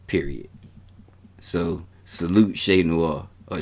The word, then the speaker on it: Che Noir: i enjoy shay more right period so salute shay noah or shea nour how you say it shay noah if you saying it properly if you from